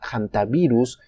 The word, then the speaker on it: Hantavirus: por qué se llama hantavirus y qué tiene que ver con la cordillera de los Andes. Hantavirus se puede pronunciar la H como si fuera una J o simplemente una H muda.